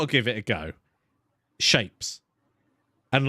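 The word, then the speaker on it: shapez: Shapes. And like, it's shapes, but spelt with a Z on the end.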